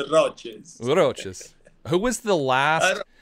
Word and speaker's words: Roces: was pushing roach roaches roaches roaches um say Rosies and I used to get just burned yeah yeah it's roaches roaches who was the last they were saying